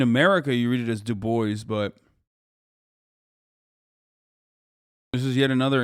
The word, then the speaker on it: Du Bois: Like, in America, you read it as Du Bois, but this is yet another instance where you guys are yelling at me for me being right and you being wrong. I mean, gave up the French pronunciation to emphasize his blackness.